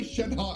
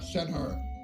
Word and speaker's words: Shenhe: Just say Shenhe and not Shenher.